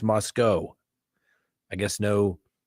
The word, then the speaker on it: Moscow: Some people say, no, it's Moscow. I guess no W. The W is silent. I don't know. It looks like Moscow, C-O-W, Moscow.